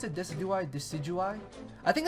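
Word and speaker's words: Decidueye: Deciduous three deciduous three a deciduous tree is how somebody uh pointed it out to me that you that you should pronounce this thing's nickname or this thing's name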